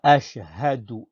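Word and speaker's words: أَشْهَدُ: Wa ashhadu anna. Wa ashhadu anna. Pareil. Ashhadu. Pas do.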